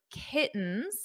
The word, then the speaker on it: kittens: pronounce this kittens kittens in American English when we have a t or two T's between vowels we pronounce the t's as a very soft D kittens kittens now you